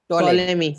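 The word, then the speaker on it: Ptolemy: टोलेमी। शायद P silent word है, टोलेमी word उसको प्रोनाउंस करते हैं।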